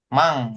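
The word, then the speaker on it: 万: Nah, terus 10.000 yen 10.000 ya kan mang bacanya mang.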